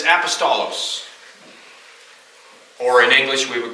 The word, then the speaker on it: apostolos: definition number one two the Greek word this this I sort of pronounced because it's really close to the English word is apostolos or in English we